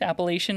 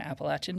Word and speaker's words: Appalachian: It is both correct. Appalachian is correct and Appalachin is correct, but I went to college in North Carolina where there's Appalachin State University and that's how they say it and that's just how I grew up saying it.